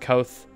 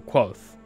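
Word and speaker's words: Kvothe: and fascinating life of kavoth sometimes pronounced koth kavoth or quoth it doesn't matter kavoth is a deeply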